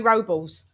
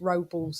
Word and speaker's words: Robles: aj worked with manny robles um robles but in english it's robles look how we just make his name just sounds so bland and dry you know that's he's like that's not how you pronounce my name you know it's yeah